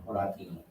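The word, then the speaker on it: Horatii: whenever you're reading Latin, you have to pronounce every vowel. There's no such thing as a silent vowel in Latin. And the I sound is always the E. So Horati. So Horati.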